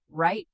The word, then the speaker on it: write: Silent W before R and in some other words. Write, wrong, wrap, wrist, sword, two, answer.